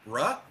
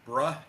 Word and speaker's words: Bruh: that on the Bionic Bruh channel on YouTube. He's got a link in the chat for you there. I say it like that because he spells it like this. B R U H.